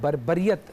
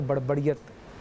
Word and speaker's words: بربریت: ہے زبان، ٹھیک ہے۔ دوسری چیز یہ کہ بربریت لفظ ہے، آپ نے اس کو روانی میں بڑبڑیت نکل گیا تھا۔ ابھی آپ یہ